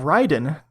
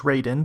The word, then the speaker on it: Raiden: game podcast coming up next episode we have Ryden uh which I used to always pronounce as Raiden but I've have learned now that that is